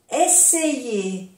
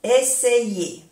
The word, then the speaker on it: essayer: Essayer, essayer, intentar. Essayer. O sea que y esto se, essayer. A-I igual a Y. Y se pronuncia essayer. Aquí, essayer.